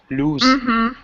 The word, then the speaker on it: loose: nose pose and loose the last one loose yeah that one is funny even native speakers sometimes misspell that one because it's really unexpected that we pronounce it that way number 15 jesus sweat